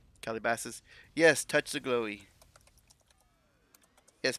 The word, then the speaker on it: Calabasas: recreational area really well I want to say it's pronounced like Cali bosses but it's it's probably caller bosses it's weird word though that's what I'm getting at though that's a very odd word color bosses it's probably pronounced something like it's probably over time I've been Americanized too like Kelly bosses or something Calabasas yes touch the